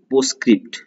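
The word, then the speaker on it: postscript: नाउ पोस्टस्क्रिप्ट, this is post, T silent होता है, इसे बोलेंगे पोस और फिर क्रिप्ट, पोस्टस्क्रिप्ट बोलेंगे।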